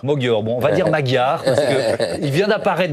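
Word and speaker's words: Magyar: Arthur Kenikberg, comment prononce-ton-on le nom du nouveau enfin du futur premier ministre en Hongrie ? Mogor. Mogor. Bon, on va dire Magar parce que il vient d'apparaître dans le spectre médiatique français.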